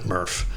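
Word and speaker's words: MRF: and they call it they say pronounce it MuRF okay because materials recycling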